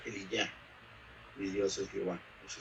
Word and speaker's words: Elías: Se pronuncia Eliyá, mi Dios es Jehová.